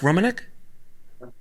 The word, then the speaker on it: Romanek: Especially the work you've done with music videos, your stuff with Fincher, your stuff with Romanek, right? Is Mark Romanek? Yeah, I pronounce it right. Yeah. Romanek, yeah, all that kind of stuff.